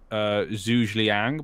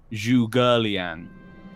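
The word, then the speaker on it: Zhuge Liang: I read a person's name before and it was Zhu Zhliang, but it's actually Zhu Gerliang.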